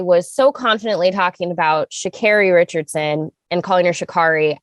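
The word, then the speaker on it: Sha'Carri: so i don't know why i was putting the uh softer a in there i i knew better it like i literally finished recording with sasha and it was like i knew i was mispronouncing her name and i just could not process in the moment so anyway uh my deepest apologies for that because it is shakiri richardson and i you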